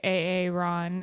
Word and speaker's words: Aaron: sense and then at the end it's like Aaron Rogers and he's like a a Ron rod rod gears I still say AA Ron anytime I see the word or the name